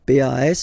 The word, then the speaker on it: pas: Okay, we write it PAS, okay, but as usual final S is not pronounced, so it's pas.